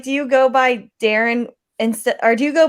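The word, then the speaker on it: Daren: say right okay so what's your name goes darren they go why isn't it spelt with two hours uh because it should be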